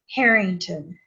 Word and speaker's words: Harrington: H A R R I N G T O N. How do you say your last name? Harington.